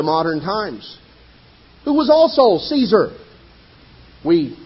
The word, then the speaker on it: Caesar: times, who was also Caesar. We pronounce it in English Kaiser, which was simply the Germanic pronunciation. Actually, the Latin pronunciation of Caesar was more like Kaiser.